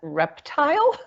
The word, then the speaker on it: RPPTL: actually mentioned this, and I'm hearing it as reptile. Could you please spell that so I can put it in the chat? RPPTL, Real Property, Probate, and Trust Law section of the Florida Bar. Okay, folks, I got it in. Well, I guess you are sort of kind of pronouncing it like reptile, aren't you?